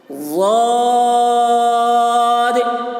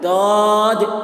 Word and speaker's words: ضاد: ضاد یہ اس کے صحیح تلفظ ہے. کچھ لوگ اس کو داد بول دیتے ہیں، دال کی طرح بول دیتے ہیں داد، تو داد یہ نہیں ہے، یہ غلط ہے بالکل.